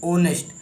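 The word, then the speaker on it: honest: क्यों लगाया है, क्योंकि जो हमारा हम पढ़ते हैं होनेस्ट, तो ये होनेस्ट नहीं, ये है ओनेस्ट, ओनेस्ट। तो जब हम इसे प्रोनाउंस करते हैं तो हमारा वोवेल साउंड से स्टार्ट होता है, जैसे ओनेस्ट।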